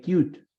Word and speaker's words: cute: Take into account that here I have two vowels, una and dos, pero la E final no suena, right? So in that case, it is a monosyllable.